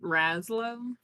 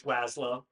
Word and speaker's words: Waslow: pronounce it Raslo? No, it's Waslow.